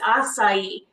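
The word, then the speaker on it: açaí: I have to say, I don't think I pronounced that right till maybe like a year ago or so, but it's acai.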